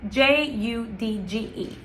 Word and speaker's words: judge: Um, it is always gonna be pronounced as ch like a ch So judge, right? Judge, you have to think of the G as a ch.